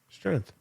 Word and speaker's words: strength: Strength. Strength doesn't have an A in it. It has a G. But you're not saying strength. You're saying strength. Strength. There's no A.